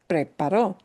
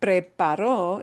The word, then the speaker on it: preparó: And you know, saying preparó instead of preparo, if you just willy-nilly say, oh, well, it's spelled the same, when you're saying that to somebody, it conveys a very different idea.